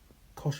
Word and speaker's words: cosh: This is shine, so shine of x. This is cosh of x, and this is either pronounced tanh of x or fan of x.